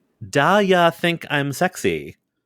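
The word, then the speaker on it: Da Ya: to say this correctly daa think I'm sexy I learned this week that that is how that title is spelled da a y a think I'm sexy yeah also I hate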